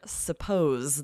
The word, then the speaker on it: suppose: I've heard people say, "I suppose," and "you were supposed to," but one sounds like Z and one sounds like S.